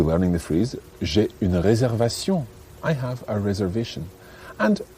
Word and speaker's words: réservation: Réservation. Réservation. But it's a good example of a word that you must pronounce in French, even though it looks like English.